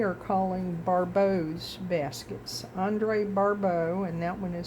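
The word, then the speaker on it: Barbault: Andre Barau, and that one is spelled B- A R B- A L T is uh was an astrologer with a history of notable accurate predictions.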